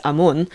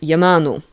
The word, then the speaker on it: Amun: And so, by looking at that, we can actually see how certain things were pronounced. One of the most, I think, common ones that we find is the name Amun and that's why we know that it was pronounced like that, not only because it's preserved in Coptic as Amun, but because in Akkadian it is pronounced Yamanu. There are a couple variations on this, but it's generally Yamanu.